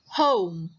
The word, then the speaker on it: home: Okay, the next word we say a lot in the past year, home. Home. Stay at home. Stay di rumah. O. Home. Again, the O is just saying its name.